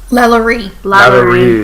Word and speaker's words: LaLaurie: Now, I always forget how to pronounce her name, Madame... Lalaurie.